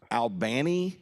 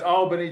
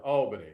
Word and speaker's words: Albany: Is it actually pronounced Albany, Georgia? Can you hear me okay? Yes. Perfect. No, it's Albany, Georgia. Albany.